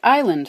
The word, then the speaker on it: island: a little too far the word Island for example came from an old English word England it didn't come from Latin at all and people were happily pronouncing it and writing it as island until someone picked up an S from the Latin insula and stuck it where it was never meant to be finally we have a